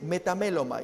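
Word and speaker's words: μεταμέλομαι: capítulo 21 versículo 29 en griego se dice meta me loma y esa es la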